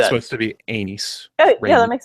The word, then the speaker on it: Aenys: and they said that it's supposed to sound like Rhaenys, but without the RH. That's how you're supposed to pronounce it, according to Gurm. I like so it's that. supposed to be Anys.